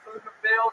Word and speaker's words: Pflugerville: When I say Pflugerville, the P is silent.